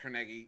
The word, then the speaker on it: Carnegie: street for me city he founded his neighbors pronounced Carnegie y'all are all wrong that's all right but